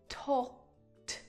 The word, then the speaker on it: talked: The pronunciation of that ed is just a T sound added to the end of the verb. Talked, talked, talked.